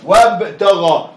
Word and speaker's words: وابتغى: وابتغى. واب واب. نطق لي الواو مفتوحه طبيعي مفتوحه لان حرف الزاد دايما مفتوح. نطق لي الواو مفتوحه واب ونطق الباء عليها سكون.